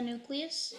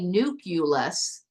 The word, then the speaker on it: nucleus: the very center of the atom Wick the nucleus the nucleus good and I love the way you pronounce that so I want you guys to look at this word nule us you will hear people say nuus it is not nucleus the U does not